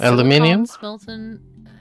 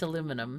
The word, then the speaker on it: aluminium: enhanced aluminum uh smelting and casting there's advanced aluminium no i meant aluminum yes aluminium it's spelled aluminium but i think they misspelled it